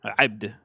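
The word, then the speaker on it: عبد: is now abd, and still pronounced as abd. Well, with a at the beginning, abd. Yeah, thank you. Yeah, voiced pharyngeal fricative.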